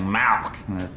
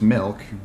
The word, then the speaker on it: milk: You're saying mAlK, like it's a disease. How do you say it? I'm saying it the way everyone ought to say it, milk, M-I-L-K.